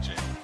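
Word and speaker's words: gaol: It's spelled G-A-O-L, Gal, but that's just the old English way of spelling jail. Still say jail for it.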